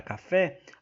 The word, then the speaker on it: café: Por exemplo, na palavra café, a sílaba acentuada é a última, é o fé, e portanto é uma palavra oxítona.